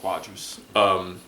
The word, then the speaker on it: Cuadras: But with Carlos-Cuadras, is that how you pronounce it? It's Cuadras. Cuadras.